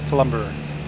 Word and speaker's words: Kalumburu: Kalumburu, that's how they say it, Kalumburu.